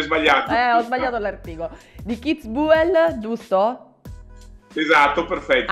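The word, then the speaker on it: Kitzbühel: Di Keith Buell, giusto? Esatto, perfetto. Anche un po', sai, la U, quella Keith Buell, quella proprio tedesca, no?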